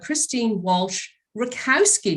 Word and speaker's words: Christine Walsh Rakowski: coach so this i'm so glad to have christine walsh rakowski did i pronounce that right yes very much right yeah